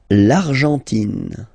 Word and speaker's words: Argentine: L'Argentine. Okay, so you've got this nasal here. En, l'argent, and then tin. Don't pronounce the final E. It just gives you the pronunciation of the N.